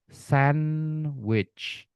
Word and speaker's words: sandwich: Sandwich. Sandwich. Ya, ada D-nya enggak ada D-nya. Pembacanya tetap sandwich, Teman-teman, ya.